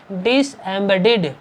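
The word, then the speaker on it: disembodied: डिसएम्बेडेड, डिड की तरह, DID की तरह इसका उच्चारण होगा यहाँ पर लास्ट में, डिसएम्बेडेड।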